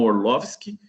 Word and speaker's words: Orlowski: diretor do documentário Jeff orlowski né ou se a gente fosse pronunciarem alemão orloski mas lá por ser americano o Jeff é o